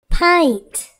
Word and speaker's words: pint: short u sound front the word pint has a long I sound pint the word friend has